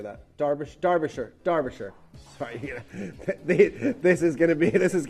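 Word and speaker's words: Derbyshire: We got Deborah uh in in is that Derbashire? How do you say that? Darbish Darbisher.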